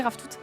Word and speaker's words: ravitoto: Et ça se dit Raftout. Rave tout et ça s'écrit Ravi Toto.